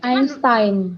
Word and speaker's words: Einstein: Berarti Albert Einstein kayak mana bacanya? Einstein. Iya. Albert Einstein. Itu aslinya. Bahasa Jerman loh itu.